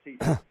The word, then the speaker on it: Thissons: I tell everybody the H is silent, so it's Thissons.